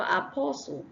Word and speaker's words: apostle: and then we have Apostle the t is silent we have sash not